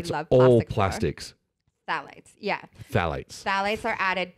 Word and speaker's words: phthalates: I saw that word before. P-H-T-H. No, you were trying to pronounce it. You got Phthalates. You're a phthalate. Is it phthalate?